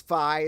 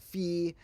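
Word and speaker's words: phi: some people call this fi some people call it fee now normally I do go with the Fe pronunciation because that's closer to original Greek but if we're going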